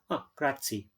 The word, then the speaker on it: grazie: how they say each letter how they really pronounce the word many many uh many english people know grazia but they read g-r-a-z-i-e grazie oh i know okay kratz in italian thank